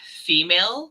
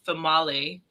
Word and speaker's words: Female: So like if you just looked at the name, it looks like female because it's spelled Female, but it's pronounced Famale.